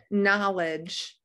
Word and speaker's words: knowledge: don't hear that g knowledge we don't hear the k whoops honor don't hear